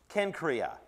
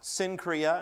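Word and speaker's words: Cenchreae: that uh but uh the letter there is a Kappa it has a k sound there is actually in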